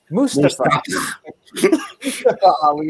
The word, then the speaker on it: Mustafa: He says, I keep saying Mustafa. Mustafa Ali is the correct pronunciation.